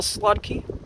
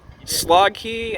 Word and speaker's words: Slotkey: badge number as well slotkey you got my name right thank you oh cool so i pronounced it right you did slog key and what's the the